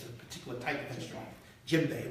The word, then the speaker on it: djembe: And this is called a djembe. It's a particular type of instrument. Djembe, right. And djembe actually starts with the letter D.